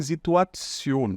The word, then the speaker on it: Situation: aqui ó, em T-I-O-N, esse T a gente pronuncia como se tivesse um S aqui, ó, Tion, tá? Então a gente não fala Situation, mas sim Situation, ok?